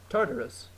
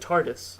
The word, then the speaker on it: Tartarus: Tartarus. Yeah, but You just said TARDIS. I know, but I've heard it pronounced just TARDIS. Like Whatever. they skipped the syllable I heard. or whatever. I think it's Tartarus.